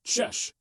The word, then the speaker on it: cześć: Okay, first up is the friendly, kinda all-purpose greeting, cześć. Now, I know the spelling can look a little intimidating, but trust me, it's basically one quick sound, sh.